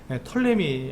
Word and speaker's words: 프톨레미: 그래서 이렇게 돼서 이 톨레미 왕국은 우리가 그 이집트 역사를 보시면 프톨레미라고 보통 많이들 얘기하는데 톨레미 앞에 피자는 잘 발음하지 않기 때문에 톨레미 왕국에서 이집트 왕국을 말하고 있고요.